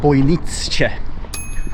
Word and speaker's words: Bojnice: Okay folks, little rest had, very little, but just to let you know, I have been pronouncing this place totally wrong the whole time. It's Bojnice, Bojnice.